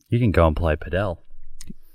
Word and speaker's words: padel: You can go and play padel. Padel. Emphasize the L. Paddle? Well, padel.